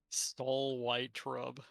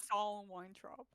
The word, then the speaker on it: Saul Weintraub: How else would you pronounce that? It's SOL. Soul. It's Saul. I heard stole. We have the Sorry. audiobook. It's definitely Soul. It's Saul Weintraub.